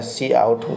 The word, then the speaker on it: cout: लिखे थे यहाँ पर, तो सी का मतलब होता है सी आउट। जो लोग पढ़ते हैं ना, इसको आप लोग ऐसे पढ़ेंगे कि सी आउट, है ना, इसको क्या बोलते हैं SEE। इसको प्रोनाउंसिएशन जब होता है तो होता है सी आउटपुट, मतलब आउटपुट को देखना, क्या करना, आउटपुट को देखना। इसीलिए हम लोग इसको काउंट नहीं पढ़ेंगे, जब भी पढ़ेंगे क्या